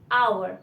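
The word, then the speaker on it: hour: पास जो की है हो आर आईटी इस रिटन आगे हावर बट आईटी इस प्रोनाउंसड स अवर हम इसमें हा को साइलेंट रखते हैं इसमें हा का प्रोनाउंस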